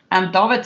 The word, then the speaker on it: David: David is pronounced Afrikaans, by the way, because I'm Afrikaans.